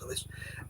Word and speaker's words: Lewis: Capaldi had to for, is it Lewis or Louis? I think it's Lewis. Luis Capaldi, I know it's spelled Lewis, but anyway, he had to rely on the crowd to help him finish his song.